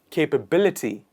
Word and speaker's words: capability: of doing it is capability capability so the stress falls in the end capability capability next one